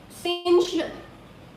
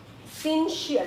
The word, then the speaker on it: syncytial: सिंशियल। सिंशियल, इट इज सिंशियल।